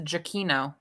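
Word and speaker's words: Giacchino: the composer of this movie's last name michael g aquino yeah on twitter he has his pronunciation and it's a giakino i mean possibly i've heard i've heard that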